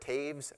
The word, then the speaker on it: Toews: my name is Taves I I know uh last name looks nothing like it sounds I get all kinds